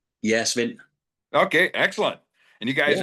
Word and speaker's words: Svend: I can get the last name, but the first name Spend. Yeah. Spven.